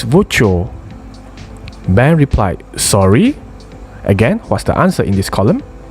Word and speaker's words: voiture: It's voiture. And Ben replied, sorry. So obviously at this point, he couldn't hear clearly. So he said, can you say that again please? Luke says, yes, it's voiture.